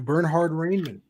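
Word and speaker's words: Bernhard Raimann: try this one too bernhard raymond not bad not bad for for a german pronunciation not terrible um yeah bernard ryman potentially a uh an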